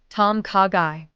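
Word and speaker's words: ต้มข่าไก่: Tom kagai in Thai. It's a gently flavored chicken soup with coconut aroma. Ordering phrase, I'd like a Tomkagai, please.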